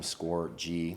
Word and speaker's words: Scorgie: to just my Twitter which is score G like score with a big G because that's how my name is pronounced so uh